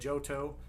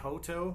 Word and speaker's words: Johto: So the colors of Kanto and, I don't know how to say it, Johto. I always want to say Hoto, but hey, it is what it is.